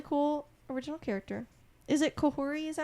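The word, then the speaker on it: Kahhori: Is it Kohori?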